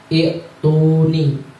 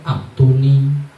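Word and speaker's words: ائتوني: Nah, itu dibacanya i'tuni. Orang-orang sering dengar aktuni, uktuni, ya. Yang aslinya i'tuni.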